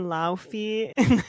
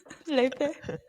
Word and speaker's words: Laufey: camp, Claro and Laufey. That's not how you say her name. Lepe.